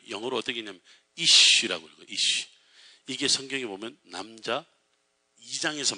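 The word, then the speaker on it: אִישׁ: 이쉬.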